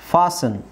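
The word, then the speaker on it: fasten: T silent ಆಗುತ್ತೆ ಲಿಸನ್ ಫಾಸನ್ ಇಲ್ಲಿ T silent ಆಗುತ್ತೆ ಓಕೆ ಲಿಸನ್ ಫಾಸನ್ ಲಿಸನ್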